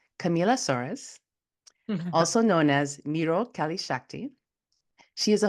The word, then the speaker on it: Miró: Miró is how you pronounce it, but I kind of made it easier for people to pronounce the first part, Miró.